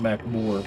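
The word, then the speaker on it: Magmoor: Pronounced Macmore Caverns.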